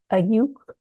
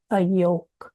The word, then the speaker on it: Ayuuk: Ayuuk is the is a Nisga'a pronunciation of Ayaw which is the Coast Tsimshian and then Gitxsan say Ayook.